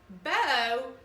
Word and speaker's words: bow: That's also spelled B-O-W like bow, but it's pronounced bow.